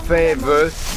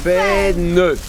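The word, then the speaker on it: faîne: Non, pas fève, fène.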